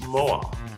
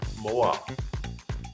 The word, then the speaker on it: moa: is correct that is correct it is the Moa MOA otherwise known as dinor niy foris Dino nith